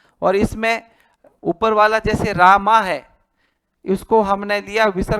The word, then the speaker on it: रामः: कर दिया रामः रामऊ रामाहा संस्कृत में जहां भी विसर्ग आए उसको ह की तरह उच्चारण करना चाहिए रामः रामऊ